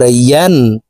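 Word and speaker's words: ي: আমরা অনেকে ইয়া হরফের উচ্চারণ হামজার উচ্চারণ করে থাকি, ইয়া আলিফ ২ জবর আন পড়ে থাকি। প্রিয় দর্শক, ইয়ার উচ্চারণ জিহ্বার মধ্যখান থেকে হবে, এভাবে পড়তে হবে।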